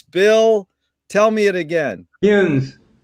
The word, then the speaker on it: Kuhns: Duncan Echelson, and Bill Kuhns. I hope I got that right, Bill. It rhymes with prunes. Bill, tell me it again. Kuhns. Kuhns.